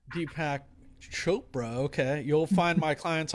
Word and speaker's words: Deepak Chopra: if as well with d pack copra's pardon me i'm not maybe not pronouncing that name right yeah deepak chopra deepak chopra okay you'll find my